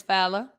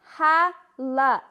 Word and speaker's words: Hala: loyjan and as usual you are not saying my name right nope it's ha la h-a-l-a i know your name